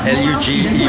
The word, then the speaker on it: luge: Hey, alright, now as I'm at Sentosa, I'm going to try out this luge ride, L-U-G-E, which is pronounced luge, not luge.